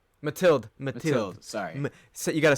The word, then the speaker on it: Mathilde: Matilda. It's Mathilde.